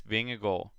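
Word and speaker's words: Vingegaard: good ride from him and uh jonas bengal vinger gore jonas being a goal that is the best pronunciation you will hear on any english commentary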